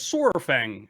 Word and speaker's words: Saurfang: him dranosh what saurfang apparently saurfang is pronounced as swordfang dinosaur swordfang not inviting